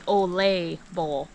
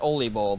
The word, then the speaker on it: Ole Bull: after a norwegian violinist his name was actually olay bowl yup yup so everyone says oli bowl but it's all labeled yeah we've been saying it wrong so he brought a